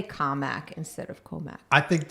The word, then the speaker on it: Commack: come from a town that is notoriously called Commack but is actually and accurately called comic and when you say it the right way